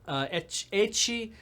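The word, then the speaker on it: ecchi: up what is that a Qi is the pronunciation of the letter H and you use H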